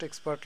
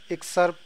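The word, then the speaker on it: excerpt: এটা হচ্ছে post এক্সপার্ট length, অর্থাৎ আপনি এখান থেকে দেখতে পারেন। আচ্ছা আমি বানানটা ভুল বলছি এখানে, আচ্ছা এটা হচ্ছে পোস্ট এক্সার্পট লেন্থ, ওকে।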